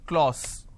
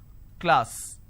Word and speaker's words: class: for example the word class lot of people pronounce this as clause it's not Clause it's class so I have a Le ah so class this is how it's pronounced but people make